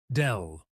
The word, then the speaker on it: del: It is written as a downward pointing triangle and pronounced as dell.